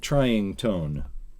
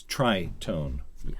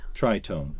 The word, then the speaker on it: tritone: yes go ahead um it's not trying tone it's TR tone trone and it's TR r